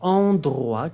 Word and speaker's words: endroit: Alors, endroit, que significa lugares, así se pronuncia. Endroit. Acuérdense la OI, wa.